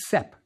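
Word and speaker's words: sp: It was pronounced sep.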